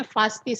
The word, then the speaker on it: Vasti: Ini memang tulisannya Wasti dalam kitab suci kita, tapi kita bacanya Vasti saja pakai V. Supaya sesuai dengan huruf Ibrani, kata dalam bahasa Ibraninya ya, Vasti.